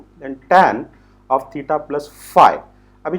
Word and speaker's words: phi: इसका pronunciation फाई होता है, ग्रीक अल्फाबेट है, उसको कोई डरने की बात नहीं है।